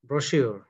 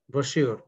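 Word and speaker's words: brochure: হ্যাঁ, যে শব্দটা দেওয়া আছে এটার উচ্চারণটা হচ্ছে ব্রোশিওর। হ্যাঁ, উচ্চারণ হচ্ছে কি ব্রোশিওর।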